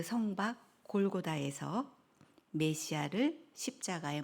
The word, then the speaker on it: 골고다: 우리는 갈보리라는 말이 익숙하지만 그 갈보리는 라틴어에서 파생된 영어 발음이잖아요. 근데 아람어, 그 당시 예루살렘에 사는 히브리 사람들이 사용했던 말로는 골고다입니다.